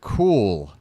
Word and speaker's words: Kuhl: Hey, welcome in number 2062, Chad Cool. That's how I'm going to pronounce it. KUHL.